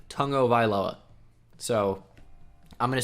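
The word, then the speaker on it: Tua Tagovailoa: of AI Lola now I know what you want to say Tago vai lá just cuz the way it looks he pronounces his own name Tongo vai lá lá so I'm gonna say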